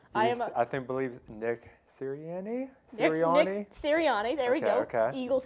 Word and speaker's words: Sirianni: So I do want to hear Tom pronounce the name. I believe Nick Sirianni? Nick Sirianni, there we go.